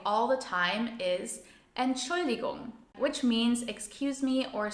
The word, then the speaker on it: Entschuldigung: It is a bit tricky to pronounce, so a helpful tip is to break it down into its syllables. Let's do this together. Entschuldigung. Entschuldigung.